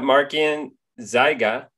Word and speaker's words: Markian Zyga: see what i did there marking we've got markian zyga and i forgot to ask you how to pronounce your last name you actually pronounced it